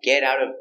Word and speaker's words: get out of: I wake up in the morning and I get out of bed. Pronunciation. The T's are pronounced with D sound. Get. Get out. Get out of. I get out of bed.